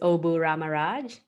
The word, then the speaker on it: Obu Ramaraj: My name is Obu Ramaraj.